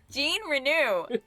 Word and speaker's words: Jean Renault: Jean Renew is how they pronounce Jean Renault.